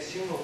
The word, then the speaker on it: символ: Значит, у Пушкина, в пушкинской поэзии это слово тоже встречается только с ударением на первом слоге, так что ударение символ появляется, видимо, не ранее второй половины XIX века, пока не знаю когда.